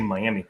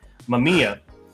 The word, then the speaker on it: Mamiya: I want to say Miami. Mamiya.